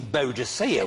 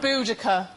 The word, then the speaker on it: Boudica: Well, look, Miranda, I know we're getting to the end of the show, but there's no need to go all Queen Boadicea with me. Boudica.